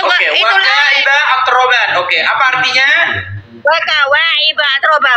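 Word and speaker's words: وَكَوَاعِبَ أَتْرَابًا: Waka wa'iba atroba, bukan waka wa'itroba.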